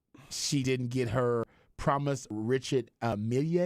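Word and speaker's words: Richard Mille: didn't get her promise Richard Amelia is how you say the watch like the Emilia um and a bit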